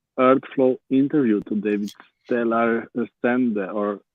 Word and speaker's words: Resende: We have EarthFlow interview today with Stela Resende or how do you say it, from Brazil. Resende.